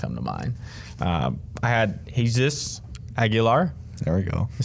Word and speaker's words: Jesus Aguilar: I had Jesus Aguilar.